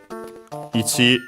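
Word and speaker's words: いち: Yeah, accented on the last syllable, so ichi.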